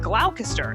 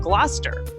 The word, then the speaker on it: Gloucester: Like originally, I said glalcaster instead of Gloucester.